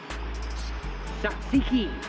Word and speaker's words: tzatziki: Tzatziki.